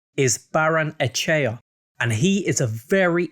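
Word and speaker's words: Barrenetxea: 2022 up next is socia dad winger ander baranek star and the correct pronunciation is baron echea and he is a very exciting player ander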